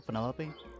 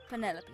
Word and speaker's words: Penelope: is that short for Penelope officially yes but I never can be bothered with all four syllables of it Penelope sounds a little ostentatious